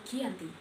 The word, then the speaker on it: Giyanti: penandatanganan perjanjian Giant yakni Desa Janti pelafalan Belanda ia tersebut sebagai Giyanti dan secara tertulis ia terbaca sebagai Giyanti tempat tersebut sekarang dikenal